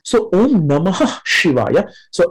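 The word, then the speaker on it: शिवाय: Namaha Shivaya, long A, so longer pronunciation, Shivaya. She is short E, so quickly, Shivaya. A is also short at the end, so in the middle, it's a longer vowel, A as in father, long A.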